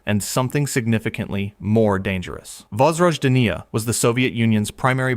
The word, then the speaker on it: Vozrozhdeniya: Number one, Vozrozhdeniya Island, Aral Sea, pronounced Vozrozhdeniya.